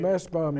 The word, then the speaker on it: Mastbaum: Yeah, Massbaum, yeah, that was at my pre-college school, and then I went to Juilliard.